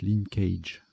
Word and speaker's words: linkage: j'ai des doutes bon ça se prononce linkage hockey et khalife qui